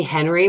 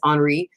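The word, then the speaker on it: Henri: restrained and excuse me I always want to say Henry but it's Audrey I want I know I'm saying it wrong so I just want to be respectful and try to say it right Audrey wasn't wearing one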